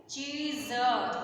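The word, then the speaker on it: चीज़: है हिंदी में चीज, इसे अरबी फारसी में नुक्ता लगाकर बोलना है। तो यहाँ पर ज के बाईं ओर एक बिंदी लग जाएगी, इसी को नुक्ता बोलते हैं। इसका उच्चारण कठिनाई के साथ करते हैं, जैसे चीज, चीज, चीज।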